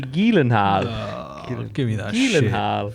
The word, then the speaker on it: Gyllenhaal: Jake Gyllenhaal. Nah, don't. Do you know how you actually? Do you know how you actually pronounce his name? Because he's from Finland. Jake Tiny Hands Gyllenhaal. It's actually Gyllenhaal.